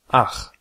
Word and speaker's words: ach: Une prononciation qui vient après A, O, U, AO se prononce R. C'est un bruit de gauche. Par exemple, Ach. Auch. Doch. pour toutes les autres combinaisons, c'est ch. Par exemple, Ich. Euch. Echt.